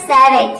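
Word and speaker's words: savage: नहीं हो रहा है तो जब भी किसी वर्ड के लास्ट में ई आता है तो ई को हम प्रोनाउंस नहीं करते हैं वहां पे ई क्या रहता है साइलेंट रहता है तो ये हो जाएगा सैवेज सैवेज मींस होता है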